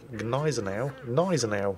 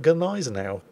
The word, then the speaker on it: Gneisenau: Germans pulled on me when I pronounced Gneisenau, and didn't pronounce the G.